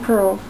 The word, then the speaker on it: purl: Kind of rhymes with furl, like a flag unfurls.